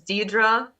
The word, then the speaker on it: Deidra: Hey guys, this is Deidre. My name is spelled Deidra, but if you search Deidre as seen on the screen, you will find me.